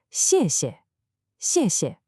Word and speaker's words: 谢谢: That pinyin initial X sound doesn't exist in English. It's not sh. To make this sound, the tip of your tongue should be down, touching the back of your bottom teeth, and the middle part of your tongue rises up. It's a high, thin sound. Listen, 谢. And both syllables are that sharp falling fourth tone, 谢谢.